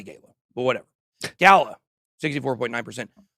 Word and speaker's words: Gala: Gala. I like to say Gala, but whatever. Gala, 64.9%. British people pronounce it Gala. Americans pronounce it Gala.